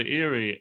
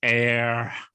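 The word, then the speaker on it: Éire: And he says, "Well, looks like you gotta go to Erie." And Sheamus is like, "You keep saying it wrong. It's air.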